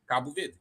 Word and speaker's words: Cabo Verde: Cabo Verde. Cabo Verde.